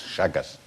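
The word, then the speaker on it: Chagas: It's actually spelled C-H-A-G-A-S, Shaggas.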